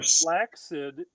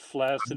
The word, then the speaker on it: flaccid: Um flaxid is the preferred pronunciation but flaccid is all but completely acceptable.